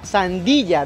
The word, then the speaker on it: sandía: conozco a la sandía pero nunca le había escuchado como sandilla Sí sandilla pero se pronuncia sandilla digamos que coloquialmente lo hacemos creo que sin darnos cuenta pero la escribimos como sandía Ah Le dan un